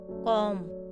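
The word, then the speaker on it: comb: अगर किसी वर्ड में बी एम के बाद आता है तो बी साइलेंट होता है। फॉर एग्जाम्पल, बॉम, कॉम, थॉम, तो इसलिए ये साइलेंट है।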